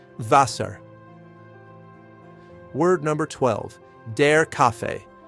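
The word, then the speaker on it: Wasser: Vaser.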